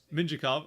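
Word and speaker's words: Mintyukov: ducks fan here to hear about pebble mintukov but uh minjikov okay good to know that's how you pronounce it don't really know about but here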